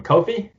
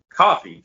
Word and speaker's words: Coffey: with uh um how do you say your last name coffee coffee just like the drink just like drink coffee all right has